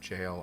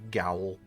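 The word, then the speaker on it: gaol: It me out that that's pronounced jail. I always want to read Gowowl.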